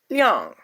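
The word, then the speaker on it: 亮: It is pronounced as yang. No, liang, liang, liang, and it means bright.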